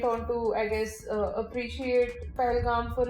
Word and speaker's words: Pahalgam: It's P. It's P-A. It's not P-H unless I don't know. I No, just the feel pronunciation. suddenly weird giving them an English lesson. They severely need. I mean, In which word does P-A get pronounced as F?